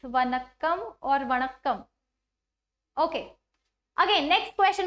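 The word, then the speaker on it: வணக்கம்: is my first Tamil word vanakam I am pronouncing it right H it's vanakam Oram okay again next question who is going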